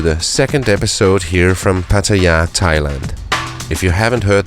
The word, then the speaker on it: Pattaya: you'd know why I'm here in Pattaya or Pattaya as the locals say and how I got